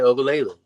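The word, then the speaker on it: Uiagalelei: Yeah, they got DJ Ogalele, or however you say his last name.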